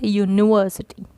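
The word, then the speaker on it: university: The letter U is pronounced as Y-O-U, U, which begins with the consonant sound Y.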